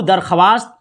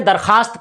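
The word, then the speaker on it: درخواست: वाऊ वाऊ लिखा जाएगा ये वाव दरख्वास्त आप नहीं पढ़ेंगे दरखास्त पढ़ेंगे तो दरखास्त में जो वाऊ है वो लिखा जाएगा ऐसे आप लिखेंगे देखिए मेरे साथ बने रहिए भाई ऐसे आप लिखेंगे ठीक है तो येय वाऊ लिखा तो जाएगा लेकिन पढ़ा नहीं जाएगा तो ये दरखास्त में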